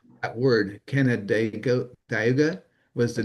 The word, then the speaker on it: Canandaigua: Well, it's like Canada and then uh Daigua.